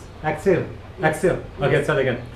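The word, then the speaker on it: Axelle: that's so cool okay so it's X how you pronounce I got to I got look at yeah a x e l l e so like X exil exil okay let's TR it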